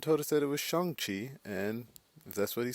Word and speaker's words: Shang-Chi: many people for most of my life i pronounce it shang chi but kevin feige came out and told us that it was shangqi and that's what he says that's what we're